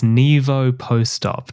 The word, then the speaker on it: NIVOPOSTOP: It's NIVOPOSTOP, Josh. Oh, like post-operative.